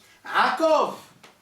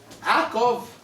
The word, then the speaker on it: Yaakov: C'est Yaakov. Il y a 2 syllabes. Sous le yud, il y a le patah, c'est la voyelle brève. Donc, Yaakov.